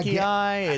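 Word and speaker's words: Paqui: The punishment for the losing team is trying one of these incredibly hot, is it pronounced Pacquiao? Yeah. Pacquiao, it's P-A-Q-U-I.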